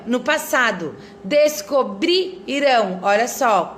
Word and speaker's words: descobrirão: Olha só, ali primeiro tá assim, descobrirão, no passado, descobrirão, olha só, qual é a sílaba tônica que eu tô falando mais forte?